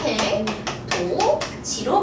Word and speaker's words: 해돋이: 해돋이도 똑같아요. 해돋이 같은 경우에도 이 이가 의미가 있어요, 없어요? 없어요. 그리고 지금 디귿이랑 의미 없는 이가 만나죠? 그럼 발음이 어떻게 돼요? 해, 도, 지로 발음을 합니다.